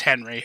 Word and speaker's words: Henri: It's Henry, all right? Timothy Olyphant's the man. I refuse to accept any other pronunciation.